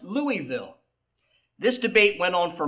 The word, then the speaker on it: Louisville: It's pronounced Louisville."